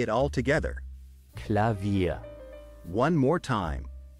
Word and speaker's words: Klavier: hammers striking strings let's say it all together clavia one more time clavia now let's split the word into syllables and then pronounce each syllable one by